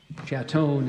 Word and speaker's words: chaton: in a shot Chateau and there's no alternate pronunciations ChatOn is spelled c-h-a-t-o-n all right this word is